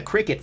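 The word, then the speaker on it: CRKT: But, uh, yeah, a lot of people are talking about the Cricut Fossil, Ct for those of you who aren't familiar with my uh, pronunciation of their name.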